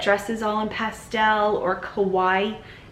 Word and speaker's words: kawaii: Somebody in Japan is going to be thrilled, or somebody that dresses all in pastel or kawaii, like Hawaii but with a K is how you spell it.